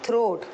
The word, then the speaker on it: throat: थ्रोट, THROAT, थ्रोट, okay. Then we have the next word is chest. मैं spelling check क्यों बोल रही हूँ कि आपको